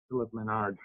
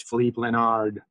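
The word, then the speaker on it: Philipp Lenard: Most of you guys pronounce it as Philip Leonard. That's not the proper pronunciation of his name. It's Philippe Leonard. He's almost silent at the end.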